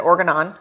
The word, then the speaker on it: Organon: So you said Organon is how you say it.